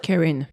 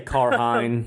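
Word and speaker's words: Cairhien: sea where Rand is how do you pronounce it Karen Karen um Morin is heading there like a Ken like Karen yeah exactly I say carhine because a southerner oh god um Moren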